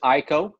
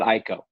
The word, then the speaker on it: IKO: So a lot of people pronounce it IKO. A lot of people pronounce it IKO. We'll answer to either one. But when I talk to the family that runs the business, they call it IKO.